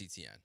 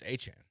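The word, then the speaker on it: Etienne: He signs with the Saints and he goes, "That's not how you say my name. It's Achan."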